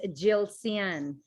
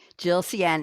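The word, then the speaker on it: Yilcian: what's your real first name i can't pronounce it what is it red thank you for having my real name is jill sian jill cien and it's y-i-l-c-i-a-n thank you for not making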